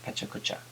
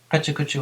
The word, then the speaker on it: pecha-kucha: Outside of Japan it's often pronounced pecha-kucha, but I'll stick to the Japanese pronunciation of pecha-kucha. Pecha-kucha was started by two Tokyo-based architects, Klein and Dynam, in 2003.